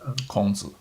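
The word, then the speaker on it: 孔子: Kongzi.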